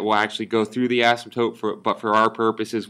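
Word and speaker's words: asymptote: call that x-axis in ASM toote again the way that we say that the p is silent it's called an ASM toote what that means is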